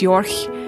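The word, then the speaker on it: Jorch: aunt's name is ursula and york that's j-o-r-c-h and in german that would be pronounced york so i'm not even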